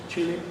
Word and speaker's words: Chile: Chile.